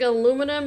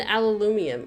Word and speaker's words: aluminum: And my understanding is like in British and very European English-speaking countries, I think even Australia pronounces it like aluminium. Gosh, I can't even say it right. But in North America, we say aluminum.